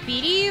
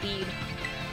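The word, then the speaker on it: Bede: dude do you guys call him Beady or do you say bead I thought I always thought it was Beady I'm the dark side my favorite rival blue kill it with fire it's pronounced bead but I still say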